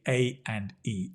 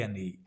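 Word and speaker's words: A&E: the emergency Ward the a and E A an e instead of saying A and E we say a n e a knee like knee your knee a KN a KN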